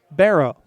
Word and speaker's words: Bero: both were earned to Brad bero-bero like wheelbarrow but it's spelled BER Oh Barney's on Owen 1